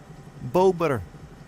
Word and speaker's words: bober: There is a beaver bober. Bober. There's a my favorite Instagram page called uh Polish Daily Animals and Bober. B O B E R is how you say beaver in pole.